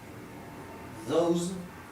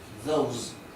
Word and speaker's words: those: verbo bañar o bañarse Those que significa esos o aquellos Those fíjense que coloca una Z al final porque se pronuncia zumbado esta palabra es importantísima